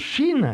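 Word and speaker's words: שׁ: Je vous disais tout à l'heure est pointée à droite, cette lettre se prononce Chine. C'est la Chine, c'est l'Orient.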